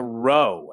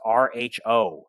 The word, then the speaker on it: rho: p it is not a p it's a row and it's pronounced rho rho this is a greek letter and it